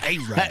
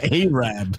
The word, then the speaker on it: Arab: but uh it's like it's like Arab it's spelled Arab it's Arab Arab where Henry chose from you you can't say Arab Alabama I told one of